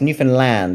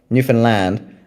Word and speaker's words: Newfoundland: I would I would start with um the explorers who visited Newfoundland before uh in fact it's Newfoundland is how you pronounce it. I always get it wrong. Newfoundland.